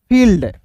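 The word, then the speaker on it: field: देखिए बिल्कुल ध्यान से देखिएगा, एफ आई ई एल डी फील्ड, इसे फील्ड नहीं पढ़िएगा, फील्ड, क्योंकि यहाँ पे दो भवेल एक साथ है तो एक भवेल साइलेंट होता है।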